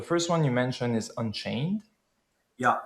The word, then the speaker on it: Anchain: The first one you mentioned is Unchain? Yeah. An, A-N, and then chain.